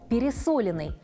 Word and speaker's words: пересоленный: В таком слове ударение падает на слог с буквой «о» – пересоленный.